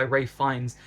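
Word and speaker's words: Ralph Fiennes: The second half is a bit slower, but boast some fantastic performances by Ray Fines, which is the correct way to pronounce it. I've been saying it wrong, who adds a little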